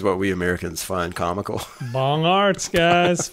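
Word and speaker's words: Bongartz: on this Craig Dr bong Arts I did not I'm sure that was not how it's pronounced it all b o n g a r TZ and see this is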